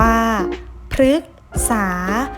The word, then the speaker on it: พฤกษา: พร้อม ๆ กัน ค่ะ พฤกษา อ่าน ว่า พฤกษา หมาย ถึง ต้น ไม้